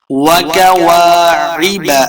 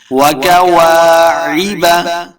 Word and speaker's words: وَكَوَاعِبَ: واضح کرنا ہے واعنابا وَكَوَاعِبَ أَتْرَابًا کاف کو موٹا نہیں پڑھیں گے وَكَوَاعِبَ دیکھیں عین ہے حمزہ نہیں وَكَوَاعِبَ ایبا نہیں پڑھیں گے،